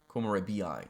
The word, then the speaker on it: Komorebi: We called that Komorebi. Komorebi. That's how we should pronounce it.